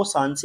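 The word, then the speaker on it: O'Shaughnessy: इसको ओसासी पढ़ते है, प्रोनाउंसिएट करते हैं।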